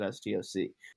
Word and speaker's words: Stoc: So sometimes people pronounce it stock, sometimes people pronounce it STOC.